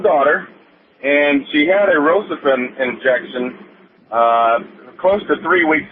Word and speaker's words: Rocephin: to do here like you're gone okay well Rocephin is the correct way to pronounce it and you know it's the Pharmaceutical